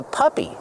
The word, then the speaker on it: puppy: Use the short sound like cup and up. Pup. Puppy. Plus the long E sound like green beans.